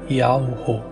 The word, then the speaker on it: YAHUO: o seu nome é Earl burro a pronúncia se assemelha a um som da respiração e Ele nos amou